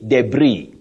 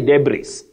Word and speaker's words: debris: epitomy February and lastly you say debris don't say debris debris or debris not de otherwise Betty English be English